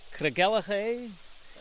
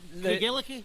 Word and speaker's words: Craigellachie: I call it Craigellachie. Not close, very close. Yes. Okay. Craigellachie.